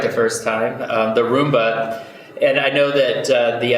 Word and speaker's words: Roomba: using the vacuum cleaner what is it the rumba rumba rumba rumba I think I said it right the first time the Roomba and I know that the idea that you're